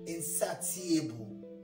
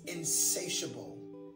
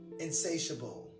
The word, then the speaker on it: insatiable: desire or need insatiable i've heard that were pronounced as insatiable no it's insatiable insatiable like so many politicians he has an insatiable